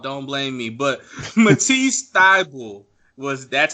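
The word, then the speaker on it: Thybulle: not my fault don't blame me but Matisse ty bull was that's how you say his name like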